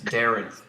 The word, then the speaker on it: Daarinth: And he says, is there an order or list we can challenge George after Daarinth? That's not how you pronounce his name. It's Daarinth.